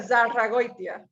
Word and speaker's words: Zarragoitia: Am I pronouncing it correctly? That's pretty good. Zarragoitia.